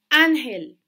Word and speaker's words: ángel: vocal en ese entonces ángel tiene el acento en la penúltima sílaba esa palabra ángel árbol